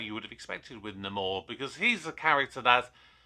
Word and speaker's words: Namor: I'll speak about Namor, or Namor as they pronounced it within the movie.